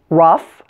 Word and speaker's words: rough: pronunciation of oh ugh this one is f like in the word stuff the common Oh ugh words with this pronunciation are rough tough and enough now there's another word